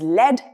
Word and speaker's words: lead: Pronounced as led and lead.